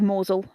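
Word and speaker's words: Mousehole: it's up there with moel amongst my favorites which is spelled mouse hole Yeah toaster and bister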